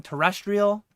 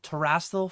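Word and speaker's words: Terastal: a lot of people I I've heard people saying terrestrial Festival everything I've seen though is t e r a s a l teral Festival I feel like I've been saying it right and other people have been saying it wrong terrestrial I don't know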